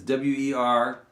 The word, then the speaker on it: Werlwas: It's Werlwas. You were and you was.